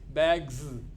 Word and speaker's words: bags: they are different bags you are saying z sound at the end it's not s it is z bags whereas keeps it's not